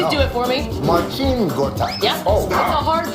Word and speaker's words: Marcin Gortat: Do you know I've been saying this guy's name wrong for my entire life? I mean, I please know. do it for me. Marcin Gortat.